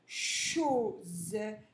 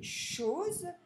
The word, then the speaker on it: choses: De choses. Donc là, le S, comme il est entre deux voyelles, il va faire le son Z. Des choses.